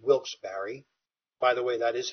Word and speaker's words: Wilkes-Barre: pennsylvania in 1824 in a little town called wilkes-barre by the way that is how it's pronounced not a typo error and he had